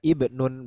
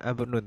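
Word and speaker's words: ابن: Mufradnya itu bacanya ibnun, jangan abnun tapi ibnun.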